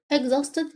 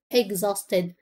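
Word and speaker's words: exhausted: ماوى ماوى ماوى اجزوستد اكزوستد يعني مرهق حرف الاتش هنا سايلنت لا ينطق اقول اجزاستيد اكزوستد مرهق اوفره هو ده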